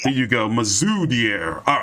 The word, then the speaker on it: Mazoudier: Doggone it, Big J, I forgot to pronounce his name again. Mazoudier. There you go. Mazoudier.